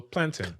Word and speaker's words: plantain: You pronounce it like mountain. So plantain.